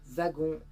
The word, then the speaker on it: Wagon: veux rentrer en métropole wagon prononcé wagon comme Marion le prononçait malheureusement c'était une fausse